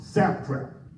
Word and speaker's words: satrap: And I said satrap because they were setting a trap. The word is pronounced satrap.